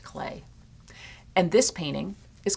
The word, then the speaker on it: Klee: artist named paul clay his last name was spelled k-l-e-e but pronounced clay and this painting is